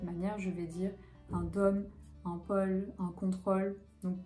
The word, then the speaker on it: dôme: très fermé par exemple le mot dôme d o accent circonflexe me devrait être prononcé très fermée un dôme ou alors un pôle très fermé ça je l'ai pas